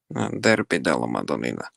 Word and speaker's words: Derby della Madonnina: Wait, how do you pronounce it again? It's like Derby Madonnina? Derby della Madonnina.